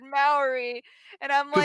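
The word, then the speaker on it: Māori: You gotta that like we do our R's kind of like it's like a hard R, like almost rolled, but kind of like a D almost.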